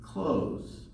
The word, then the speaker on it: close: okay close has only one syllable in the S makes a Z sound so we say close be careful not to say close this last Saturday I